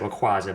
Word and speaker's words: Rayquaza: We have a Rayquaza, or Rayquaza, depending on how you pronounce it. I pronounce it Rayquaza, but I know it's actually pronounced Rayquaza.